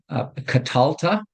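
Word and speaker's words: קָטַלְתָּ: Second masculine singular, katalta. So we have the accent over the tet, katalta. And shava is silent because it follows a short vowel.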